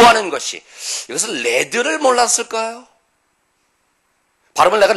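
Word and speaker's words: lead: 뭐 하는 것이 이것은 레드를 몰랐을까요 바로 나간 레드 라고 발음합니다 리드가 아니라 명사로 레드 라고 발음하면 은 나비 줘 나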